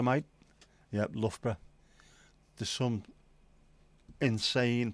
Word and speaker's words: Loughborough: Do you know the way to Luga Baruga, mate? Yep, Loughborough. There's some insane pronunciations.